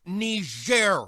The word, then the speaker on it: Niger: Oh, don't tell me people are still mad about that nigger thing. It's pronounced Niger, Mr. President, and it's a country in Africa.